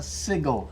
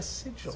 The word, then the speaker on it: sigil: better than a symbol a sigle anything Sig oh oh a Sigil a Google said it wrong Sig oh prepare to